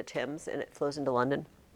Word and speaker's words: Thames: The Tims River, you know, it's spelled thames, but we call it the Tims, and it flows into London.